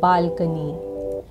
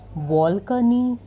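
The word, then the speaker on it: balcony: माय six word is बालकनी, और इसको ज़्यादातर गलत प्रोनाउंस किया जाता है बालकोनी, बालकनी। सो ये सब वर्ड्स गलत हैं, सही तरीका है बालकनी।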